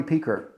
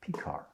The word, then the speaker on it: Pekar: on the last syllable picard he used to say after you know if you're on a train after the beer car comes the p car uh typical rv humor